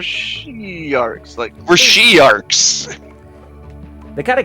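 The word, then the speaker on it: Shi'arcs: We're not sharks, we're she-arks.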